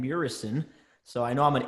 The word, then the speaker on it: Muresan: on first of all I will correct you it's Morrison so I know I'm